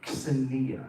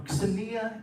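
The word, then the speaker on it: xenia: is this concept that is very ancient called Sania it's spelled x-e-n-i-a anyone familiar with this concept or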